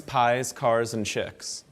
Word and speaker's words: Piekarczyk: The way you pronounce my last name is pies, cars, and chicks, right?